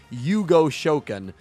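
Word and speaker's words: 融合召喚: yu-gi-oh subbed you know the characters always say fusion summon as hugo shoken uh and hugo is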